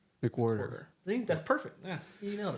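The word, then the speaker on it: McWherter: It's so it's mcwh e r t e r. H is basically sign. So, it's like and everybody in my family says I pronounced my last name wrong, but it's like mquarter. I say it like mick and a quarter.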